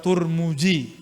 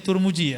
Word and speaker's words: Tirmidzi: agama riwayat Imam al-bukhari What Tirmidzi atau What turmudzi orang sini bacanya turmuji Ya terbukti nanti I